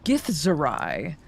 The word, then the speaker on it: githzerai: Man, I phonetically. And he was what kind of scholar? I'm sorry. A githerai.